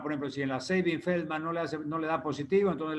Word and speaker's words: Sabin-Feldman: Primero tenemos la prueba de Sabin, se pronuncia Sabin-Feldman.